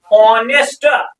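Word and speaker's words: honest: okay sir no doubt H है मगर ये साइलेंट रहे फिर साउंड क्या है ओ ऑनेस्ट ऑनेस्ट लिफ की साउंड है हां या ना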